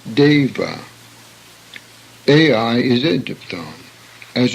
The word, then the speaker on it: deva: The E in English is a semi-diphthong and pronounced as in the word day, hence deva.